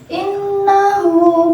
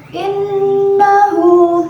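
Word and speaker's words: إِنَّهُ: Terdapat pula pada lafaz innahu, yaitu hukum bacaan gunnah, disebabkan karena ada nun yang bertasjid, dibacanya dengan dengung, 2 ketukan.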